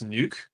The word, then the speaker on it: Nuuk: The capital of Greenland is Nuuk. I believe that's how it's pronounced in UUK.